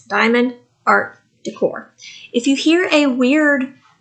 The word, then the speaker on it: Diamond Art Decor: look at it because I always want to say it wrong it's Diamond art Decor if you hear a